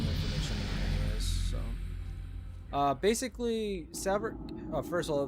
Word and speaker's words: Saverik: Basically, Saverik, first of all, the way to pronounce his name is more like Saverik or Saverik. I really don't care.